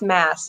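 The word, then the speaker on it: Maas: this point right okay she did that it's pronounced mass mas s shoot okay and I said it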